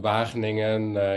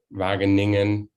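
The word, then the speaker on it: Wageningen: city correctly but uh so vageningen is the pronunciation but well magniningen sometimes used in more in the international context so i see i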